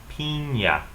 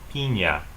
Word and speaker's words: piña: is piña, piña.